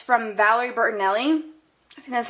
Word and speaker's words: Valerie Bertinelli: Marshalls for like ten dollars and it's from Valerie Bertinelli and that's how you pronounce the last name anyways so I went